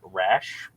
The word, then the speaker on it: Rasch: I'm gonna say your last name wrong. Rasch.